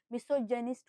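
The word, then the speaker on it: misogyny: मिस्रोजेनी मिस्रोजेनिस्ट हो सकता है उससे। तो प्रोनंसिएशन करते वक्त जब मिस्रोजेनी लिखा है। हमने क्या किया है? जेनी मतलब ज की प्रोनाउंसिएशन देखी।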